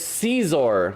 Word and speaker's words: Scizor: River of Peace says, "It's Scizor, like Little Caesars, by the way." Or no, I think it's a short I sound. Scissor? Well, I call it Sizer.